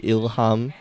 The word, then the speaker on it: Ilham: I keep pronouncing LH now as Leah, because too much Portuguese in me, when actually I know Malay, so it should be Ilham.